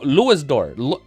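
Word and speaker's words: Louis d'Or: Dior is pronounced like door. Oh, thank God. Okay. H, okay, I can just say door. I've been trying to go L Dior. Okay, so Louis door ludor.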